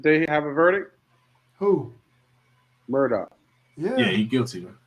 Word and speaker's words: Murdaugh: Murdoch.